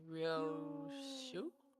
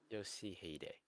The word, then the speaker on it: Yoshihide: Ryoshu? 아니, 그 글자는 그렇게 That's not 있는 how 게 you read 아니라 those letters. 요시대라고 읽는 거다. Yoshihide.